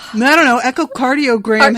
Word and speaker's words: echocardiogram: like i don't know echocardiogram has a hard c which sounds like a k so i guess we'll